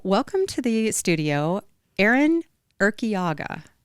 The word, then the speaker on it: Urquiaga: And so welcome to the studio, Erinn Urquiaga. Did I say it right? You said it perfectly.